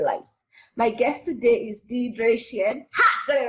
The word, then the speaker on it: Dierdre: from australia and so the way so we pronounce my name deidre um and that's how my parents pronounce it